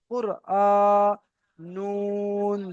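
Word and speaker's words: قرآن: সৌন্দর্য সেটা হয় না এখানে কেমনভাবে পড়তে হবে কফর র পেশ কুর উচ্চারণে গিয়ে তাড়াতাড়ি হবে কুর হামজা খাড়া জবার আ কুরআ নুন দুই পেশ নুন কুরআনুন আচ্ছা ইমদাদুল ভাই আপনি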